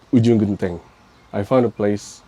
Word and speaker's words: Ujung Genteng: And it's already hard to pronounce it, but Yeah, Ujung Genteng.